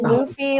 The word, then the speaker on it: Luffy: John, it is Luffy like Goofy.